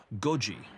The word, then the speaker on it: Goji: They nicknamed Godzilla Goji, which rhymes with the Japanese phrase for 5 a.m., to highlight how making Goji come to life meant being at work until 5 a.m.